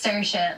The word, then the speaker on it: Saoirse: pronounce this girl's name, it's Saoirse, like inertia. And so ever since then, whenever anyone's been like, how do you, I don't understand, I'll just say it's Saoirse, like inertia, and then they get it.